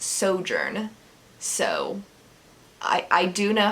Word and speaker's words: Sojourn: I was saying Sojourn, and it's Sojourn.